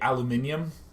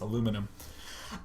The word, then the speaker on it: aluminum: is a place in the world where they pronounce it weird. Kind of like the British folks say aluminium. So weird, it's aluminum.